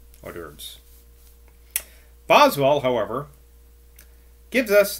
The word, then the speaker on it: hors d'oeuvres: I always pronounce it's written in French, hors d'oeuvres.